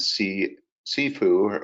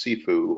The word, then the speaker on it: CFOO: He is CFO at Armanino Strategic Finance Outsourcing, or CSFO, and see-foo, or pronounced see-foo, or CFOO specialist, the combination of CFO and COO.